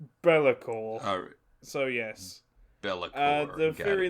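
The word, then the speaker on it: B'lakor: name yeah bailey core it's not got two apostrophes it's spelt b and then apostrophe l-a-k-o-r bellacor so yes uh the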